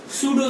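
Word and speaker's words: pseudo: सूडो solid, तो आप यहाँ पे लिख सकते हो second point, it इज अ सूडो solid, है ना, P silent, it इज अ सूडो solid, है ना।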